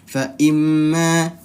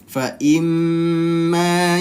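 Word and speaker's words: فإما: Fa imma satu ketukan saja dia. Fa imma. Nah, itu kurang tepat. Nah, itu kurang tepat ya. Ingat di sini ada mim, yaitu dia pelajaran gunnah musyaddadah atau wajibul gunnah sama saja. Nah, hati-hati. Dia dibacanya harus ditahan dua ketukan atau dua harokat. Jadi seperti apa? Seperti ini kita patokannya gini. Fa imma ya. Nah, fa imma ditahan dulu, bibirnya bertemu dulu.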